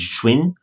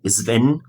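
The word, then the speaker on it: Schwinn: disse, se chama e tem duas formas de pronunciar, né? A gente pode chamar chamar elá, se for numa pronúncia norte-americana vai chamar de Schwin, Schwin ou Sven, porque é uma bicicleta alemã.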